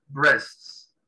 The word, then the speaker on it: breasts: Tenemos la palabra aquí, que acabo de resaltar, breasts. La A no se pronuncia.